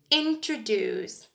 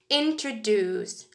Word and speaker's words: introduce: example the word introduce introduce is pronounced with a stress at the end so it sounds like this introduced introduced where you put the